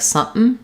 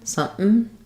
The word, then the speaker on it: something: We have a question about some speakers pronounce the word something with a glottal stop, native speakers. So they say like something, something. I have something going on, something. I would say that's pretty casual and it's specific to certain dialects of English.